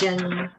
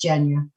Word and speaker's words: Genya: It's Genya. It sounds like Virginia, just Genya.